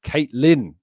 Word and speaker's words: Caitlin: Is pronounced Caitlin.